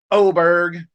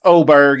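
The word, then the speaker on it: Åberg: And I'm watching my boy Oberg. And let's just settle it right now. It's Oberg if you're American.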